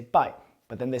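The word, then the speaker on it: 拜: So this either way this character is pronounced by and it means goodbye.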